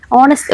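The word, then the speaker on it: honest: ഇവിടെയും ആദ്യത്തെ അക്ഷരം എച്ച് ആണെങ്കിലും അതിന്റെ ഉച്ചാരണം ഓ എന്നാണ് വരുന്നത്.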